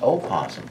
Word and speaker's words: opossum: peaches the Virginia opossum so it's pronounced opossum there is a difference between a possum in the know possum possums live in Australia really oh there we